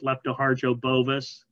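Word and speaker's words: Lepto hardjo-bovis: on the top line leptospira uh leptohargio you really feel brave it's leptoharjo bovis that's the species of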